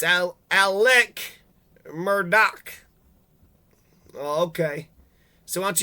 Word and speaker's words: Alex Murdaugh: Looks like your name is Alex Murdaugh. Nope, it's Alec Murdaugh.